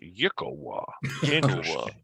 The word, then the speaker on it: Yklwa: It is pronounced Yigglwa.